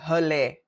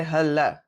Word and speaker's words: hulle: We do not pronounce it as l. So we don't say h we say h.